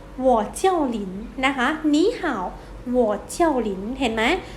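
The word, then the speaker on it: 你好: ว่า ยัง ไง เอ่ย นี่ How to ไหม นี่ ห่าว แปล ว่า สวัสดี นะ คะ ใน นี่ มี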